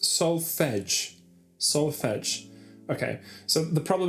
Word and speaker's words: solfege: It's pronounced solfege.